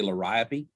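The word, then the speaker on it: Liriope: and like i say some people call say lyrio i say lariopi or ip and some people say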